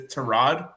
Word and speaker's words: Tyrod: Name is Tyrod, but he goes Tyrod.